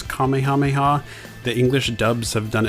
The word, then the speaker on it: Kamehameha: differently over the years some have pronounced it as Kamehameha or Kamehameha and others have said Kamehameha apparently that is the more correct way to say it I'm sure I'm gonna